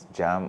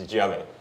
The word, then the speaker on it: Djiame: The name, is it Jam or Djiame or? It's Djiame, so the D is silent.